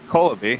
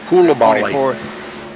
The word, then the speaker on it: Coulibaly: And James Colaby, I think that's how you say that. Coulibaly. Coulibaly, all right. Sorry I butchered it up.